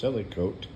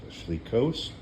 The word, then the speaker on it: Selichot: think it is pronounced silicote but the E is actually kind of a hyphen almost in this case and so it is actually pronounced Le coat and it can be pronounced sleekos and that's more in